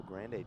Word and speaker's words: Grande: I hate to be the guy to tell you this, but I wanted you to go full tournament, saying it wrong. It's Grand, Dave. Like Grand Canyon.